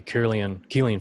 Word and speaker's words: Kirlian: Yeah, for example, one of the earliest, one of the coolest examples, I guess, would be Kirlian photography. It's pronounced Kirlian, but it's spelled Kirlian, Kirlian photography.